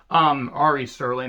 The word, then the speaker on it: Ari Sterling: And then the former Alex Zane, now Ari Sterling, Ari Sterling, I believe is how it's pronounced.